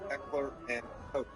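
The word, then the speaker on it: Heckler & Koch: It was Heckler and Coke. Coke like Coca-Cola? Coke like Coca-Cola. There you go. Coke.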